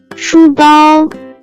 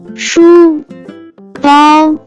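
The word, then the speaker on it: 书包: can be pronounced as 书包，书包，书包。 Let's break down it to understand it even more. It has two characters, with different pronunciation. First character is 书 pronounce with first tone, it stand for book.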